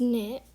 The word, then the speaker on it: knit: word we have is knit and you pronounce it as n-i-t the k is silent obviously um okay so the